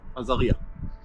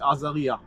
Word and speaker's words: Azariya: And when the Arabs came here, they called it Azariah. It's the Okay. same name, just in Arabic pronunciation. Right. Okay. So until today, they call it Azariah.